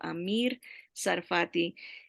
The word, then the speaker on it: Amir Sarfati: enseñanzas es el hermano Amir Sarfati. Él sí tiene sus mensajes traducidos o con subtítulos en español. El nombre Amir, así como se escucha, Amir, Amir Sarfati, se escribe T de Tomás, S-A-R, Sarfati.